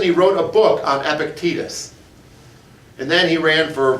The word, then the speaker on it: Epictetus: read and here's how you say his name epictetus there once was a vice presidential candidate named